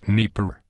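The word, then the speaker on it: Dnepr: like to discuss is the Russian dnpr often pronounced Neer the Neer can lift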